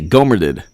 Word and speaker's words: Gohmert: Okay, it's Gohmert. Oh, with the strong T at the end.